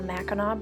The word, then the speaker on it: Mackinac: This is the Mackinac Bridge. It is not pronounced Mackinac Bridge, even though that's how it's spelled.